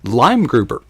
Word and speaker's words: Leimgruber: and the last lime lime grouper lime think green fruit citrus okay green and and